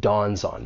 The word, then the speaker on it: dawns on: phrase there's more linking you can link the final consonant sound in Dons with the vowel sound in on Dawn's on however I think people